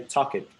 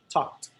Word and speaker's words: talked: So, never say talk it. No, talked. Talked. Never say stayed. It stayed. Watch it. No, watched. Watched. Enjoyed. Enjoyed. Okay, remember, Enjoyed. you only add a syllable to the words that end in T or D.